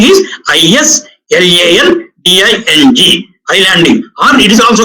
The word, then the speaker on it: islanding: In a power system network, that is called islanding. You may get confused with the spelling. ISLANDING, is landing, but S is silent there.